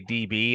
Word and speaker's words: DB: I go by DB, like letter D, letter B.